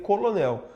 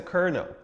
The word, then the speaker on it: kernel: Vou dar um exemplo clássico, a palavra kernel, que se escreve assim, né? E se você lê como se fala, vai ler colonel, mas a pronúncia é kernel.